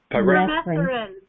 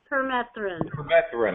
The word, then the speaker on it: permethrin: You see, with these organisms, when we use things like chemicals like pyrethrin, is that how you pronounce it, Robin? Permethrin. Permethrin.